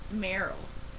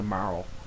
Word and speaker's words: Marle: Yeah, but there's people who say it's Meryl. Like Meryl, as opposed to Marl. Yeah. But yeah, I think there's some people who say Marl like runs with Carl. Some people I say totally Marley. agree. I totally agree with you in saying that it's Marley. Because like I can see